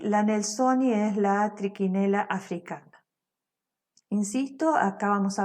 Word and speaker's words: Trichinella: El agente etiológico es Trichinella spiralis, aunque ahí haya una CH, se pronuncia como Q. Trichinella spiralis, este es un parásito helminto, nematode o nematelminto.